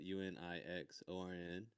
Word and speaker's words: Unixorn: It's spelled UNIXORN. And it's wait, what? It's X? It's an X. That's how it is on your Instagram. That's right. Yeah, instead of a C, it's spelled with an X.